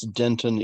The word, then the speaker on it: dentin: that mixed up because there's the gum named dentine which of course it comes from the same root but it's not pronounced the same so dentin is the